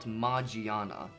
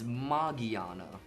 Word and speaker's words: Magearna: this wrong it's not margiana it's I'm pretty sure it has nothing to do with mages magic also that's what a lot of people think no it's margiana and the reason I